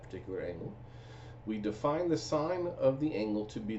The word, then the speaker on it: sine: So we define sine, so you spell it out S-I-N-E, so that's how we read it, sine, but we abbreviate it S-I-N. Now you don't pronounce it as sin, it's sine.